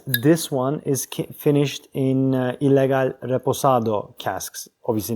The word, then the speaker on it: Ilegal: It's pronounced Ilegal. I'll show it to you. It's not illegal. It's Ilegal.